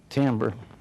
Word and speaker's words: timbre: Dealing with sound alone is what we call timbre. Spelled that way, but pronounced timbre.